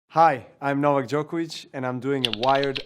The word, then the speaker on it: Novak Djokovic: Hi, I'm Novak Djokovic, and I'm doing a Wired Autocomplete interview. Autocomplete. And this is just the beginning. How does Novak Djokovic pronounce his name? Novak Djokovic.